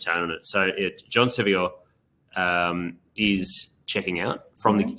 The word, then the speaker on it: Sevior: How did you pronounce it? Sevior. Sevior. My mum calls him John Sevois.